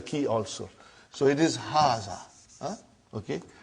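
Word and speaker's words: هٰذَا: am going to see it is pronounced like haga but this alif is not written it is explained in the key also so it is haazah okay haazah means this and means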